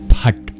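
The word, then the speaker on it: Phaṭ: Finally, the dot underneath that final T indicates that it's something different too. It's a retroflex sound, meaning you curl your tongue back in order to pronounce it. So actually the bottom of your tongue hits the hard palate. Pat.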